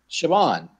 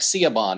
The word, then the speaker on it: Siobhan: say her name now I was talking about Vaughn shavon shavon I was saying like see a bond or something that's right yeah where